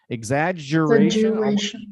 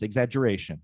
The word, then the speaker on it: exaggeration: sound and it's and sometimes some people say uh say exagge exaggeration almost like it's twice and some people just say it once exaggeration like it's only one sound so it can be